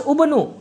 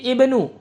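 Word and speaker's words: ابنوا: Jadi kalau kita ibtida bukan lafaz ubnu. Jadi jangan terkecoh dengan huruf ketiganya tapi kita baca menjadi ibnu. Karena ini dommahnya dommah arid.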